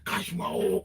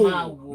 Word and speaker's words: Kashimawo: Kashmao, Kashmao, Kashmao. And I liked it. And then I posted it. Everybody like, that's not how you pronounce it. No, we do. Kashimawo.